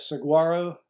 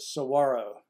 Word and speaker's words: Saguaro: National Park now keep in mind I've always pronounced that Saguaro but the people at the national park pronounce it Saguaro like to replace the G uh and the